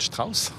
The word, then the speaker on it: Strauss: des métamorphoses de richard strauss je prononce à l'allemande donc pour orchestre à